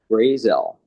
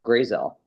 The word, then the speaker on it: Grayzel: Gazelle. So like Gray and then Viselle. So Gazelle, thanks for Thank you so much for joining us.